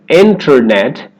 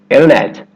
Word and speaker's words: internet: Vanishing T after the N sound in words like internet. So instead of internet, you'll hear a native speaker say internet.